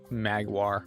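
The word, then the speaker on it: Maggiore: I have no idea how to pronounce these. Magwar? Magwar. Magwar is so funny to try to say.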